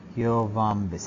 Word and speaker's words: Yoh-Vombis: It's actually the vaults of Yovombis. And what is? Spell it again. It's the vaults of YOH-VOMBIS. Okay. Yovombis.